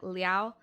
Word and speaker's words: Liao: I'm sure it's more like Liao, but I'm gonna just say Leo.